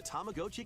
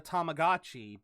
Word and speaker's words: Tamagotchi: Again, I grew up calling it a Tamagotchi, but uh yeah, I I guess now now that he says it, it is Tamagotchi because that would be the Japanese pronunciation.